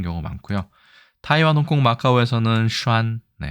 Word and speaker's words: 閂: 글자로 보시면 되고 중국어로는 아까 말씀드린 슈안이라고 하고 이렇게 간체자로 쓰는 경우가 많고요. 타이완, 홍콩, 마카오에서는 슈안 발음은 타이완 발음 기준으로 똑같습니다. 일본에서도 산이라고 되어 있고 훈독으로 특히 칸누키라고 해서 이걸 빗장이라고 빗장